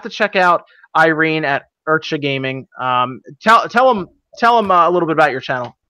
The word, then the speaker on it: Ircha: So yeah, it's IRCHA, it's Ircha Gaming, but no one really understands how it's said.